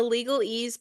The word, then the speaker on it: LegalEase: Yeah, so my podcast is the LegalEase Pod. It's spelled LegalEase. So ease like easy because we're easing the interpretation of law.